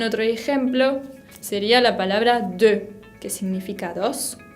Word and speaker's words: deux: También otro ejemplo sería la palabra deux, que significa dos, deux. E con U suena E.